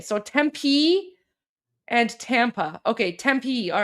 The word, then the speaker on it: Tempe: Tempee is is it pronounced Tempe? Okay. So, Tempee and Tampa.